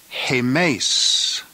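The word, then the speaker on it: ἡμεῖς: breathing over the ADA the plural nominative is pronounced hey Mase k mace and it means we the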